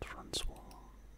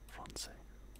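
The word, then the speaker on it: français: That was not Francois. Francais.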